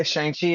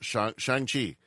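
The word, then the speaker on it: Shang-Chi: movie the the I'm going to get the name wrong. Uh yeah, Shangi and the Yes. Yeah. What was the 10 rings? Shang Chi.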